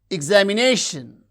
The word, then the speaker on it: examination: Examination. Examination. Examination. You can see the stress syllable is nay that receives primary stress.